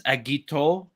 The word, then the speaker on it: Agito: because it has the agit but the O is the omega omega symbol yeah so it's agito which is yeah it's undoubtedly Japanese and I love that oh